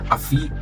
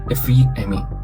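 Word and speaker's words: ἀφίημι: La palabra usada para perdonar proviene del verbo griego que se pronuncia algo así como afií o efiemí.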